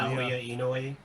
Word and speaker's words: Naoya Inoue: Naoya Inoue.